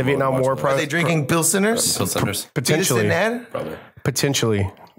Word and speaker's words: Pilsener: Not Pilsner. Pilsener. Which is the name of the city and the style of beer. Right. This is Pilsener. Pilsener. Pilsener. Because it's Where's it from? Because it's made in El Salvador. So they actually they spelled it out like how they would pronounce it. Pilsener.